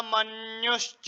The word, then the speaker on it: मन्यु: श्लोक नंबर 6 है ना, श्लोक नंबर 6 में देखेंगे योधा मन्युश्च, यहाँ पर आधा न भी है और फिर यह है, तो इस उच्चारण इस प्रकार होगा मन्यु।